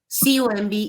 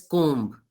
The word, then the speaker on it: comb: Whenever there is a B after the letter M, the B becomes silent, which is why it is not pronounced, COMB is not pronounced as comb. It's comb.